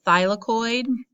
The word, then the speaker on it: thylakoid: structure is called a thylakoid it's pronounced by as in like your thigh of your leg lacoya and it's actually